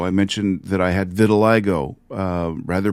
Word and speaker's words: vitiligo: I mentioned that I had vitiligo, rather pronounced vitiligo.